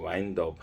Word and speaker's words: wind: 그래서 wind down, WIND인데요. 이것은 바람이 아니라 wind라고 그래서요. 뭘 리와인드해서 뭘 감다, 그죠? 시계 타협 같은 걸 감는 거죠. 와인드업 할 때 발음이, 그래서 와인드 다운 하면은